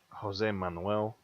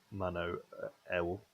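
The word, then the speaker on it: José Manuel: Jose Manuel. As opposed to Mano El.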